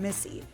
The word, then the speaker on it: Misi: After the success of her first solo venture, Lilia, an Italian restaurant in Brooklyn, she recently opened Misi, pronounced like her name, but spelled differently.